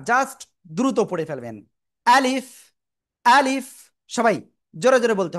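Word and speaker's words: ألف: তাকান সবাই সবাই সবাই রেডি আলিফ প্রথমে আ তারপরে লিফ তো শেষের দিকে এসে নিচের ঠোটের পেট উপরের দুই দাতের আগায় লাগাবেন লাগিয়ে কোন টান দিবেন না জাস্ট দ্রুত পড়ে ফেলবেন আলিফ আলিফ সবাই জোরে জোরে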